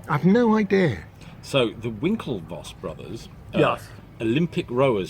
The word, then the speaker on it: Winklevoss: No, I pronounced it right. Winklevoss.